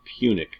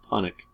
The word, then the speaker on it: Punic: Okay, so the Punic Wars, that is pronounced Punic, not Punic, like a joke.